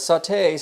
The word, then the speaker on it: sauté: Sauté sounds like it should be spelled S-A-W-T-A-Y.